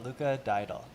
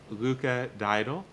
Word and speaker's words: Luca Diadul: please say your name I don't want to mispronounce it yes it's uh Luca daal Luca daal joining us from Philadelphia so uh you guys